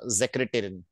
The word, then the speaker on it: Sekretärin: Whenever you have a single S in the front of the word, you will pronounce it as Sekretärin.